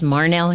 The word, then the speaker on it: Marhnelle: of you introducing yourself absolutely my name is Marnell and the name Marnell is unique it's spelled ma r hn e ll e and